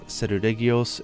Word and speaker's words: Seregios: scale wyvern, which is Seregios. In Japanese it's Seruregios and the genus name is Regios, so it made sense in English to say Regios instead of Seregios.